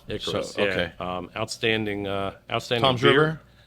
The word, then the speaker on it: Icarus: I always want to know how they pronounce it. Now I know. Icarus.